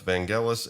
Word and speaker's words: Vangelis: It's just I used to pronounce it Vangelis until I learned otherwise.